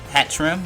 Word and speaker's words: Hatterene: tree in a hat room Pat rim that's hat trim that's how you pronounce a trim it has to move size